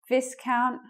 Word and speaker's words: viscount: What was wrong with Viscount? We actually use a different vowel there. It's I.